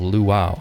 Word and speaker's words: Luau: version of Lua called luau it's pronounced like the Hawaiian word it's derived from Lua